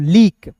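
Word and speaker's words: leak: लीक।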